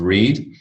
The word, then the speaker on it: read: in a pool cue red the color red past of read by the verb by